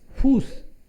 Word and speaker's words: Fuß: So इसको क्या pronounce? Fuß, Fuß.